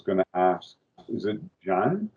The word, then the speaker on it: Zjaen: Is it Zjaen? How do you say your name? Zjaen, yeah.